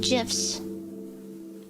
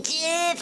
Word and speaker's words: GIF: E, you say GIF. I'm four years old, by the way. It's GIF. The creator who made it said it's pronounced GIF.